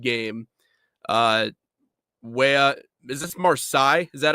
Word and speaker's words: Marseille: Uh way, is this Marsai? Is that how you pronounce that? Marseilles.